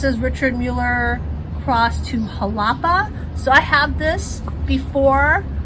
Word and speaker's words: Jalapa: said it to Fred, I said Jalapa, and he was like, no, it's Jalapa. So I pray that I'm saying it correctly now. It's not like jalopy.